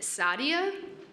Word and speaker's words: Sadia: But is it Sadia? I apologize if I mispronounced it. Feel free to unmute yourself online. Hello. Yep, my name is Sadia. You got it right.